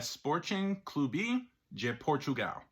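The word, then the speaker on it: Sporting Clube de Portugal: of where they're located Portuguese pronunciation of the club name is essentially a sporting cluby je Portugal this club is nicknamed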